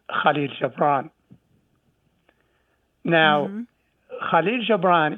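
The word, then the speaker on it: Gibran: called KH Jaan now KH Jaan is how we pronounce it in Arabic but I'm sure the English speaker will pronounce the name KH a little bit different because you don't have the letter and the second example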